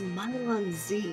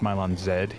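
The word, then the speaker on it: Milon Z: you're doing commentary with it's it's pronounced mylon zed he's the canadian scarlet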